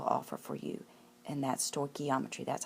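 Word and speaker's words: stoichiometry: this course will offer for you and that's sto geometry that's how that's pronounced sto geometry and we're going to learn dimensional analysis you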